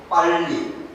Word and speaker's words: 빨리: A2 pronounced in Korean, 빨리.